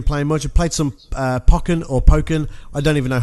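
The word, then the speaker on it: Pokkén: A Pokken, I think it could supposed to be like Tekken to Pokken. Yeah, I guess. But the reason I thought it was Pokken because of Pokemon.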